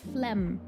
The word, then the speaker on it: phlegm: Word is pronounced phlegm. Huh? I'm thinking French. We pronounce the G.